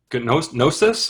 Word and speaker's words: Gnosis: They formed Gnosis, I think. The G is silent, I believe.